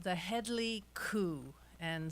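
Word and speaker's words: Kow: Yeah, this story is um it's called The Headley Coup, and some of you might think it's actually pronounced cow, but it's not.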